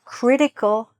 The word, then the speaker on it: critical: In North America, usually they don't really say the T, so they say critical. Critical, okay? But if you like, you could pronounce this T, and if you're not a native English speaker, it might be easier for other people to understand you if you do pronounce that T in the middle, and it's perfectly fine.